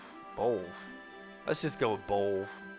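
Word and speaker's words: Beoulve: Let's just go with Bolv. I think Bolv is probably the best way to say it. I like Bolville or Boville would be cooler sounding, but that's just clearly not how it's pronounced.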